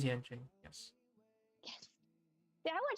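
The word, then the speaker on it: Yanqing: Am I saying Yangqing right, or is it pronounced something else? No, it is Yangqing.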